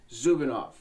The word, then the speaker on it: Zubanov: And then we have Elena Zubenoff.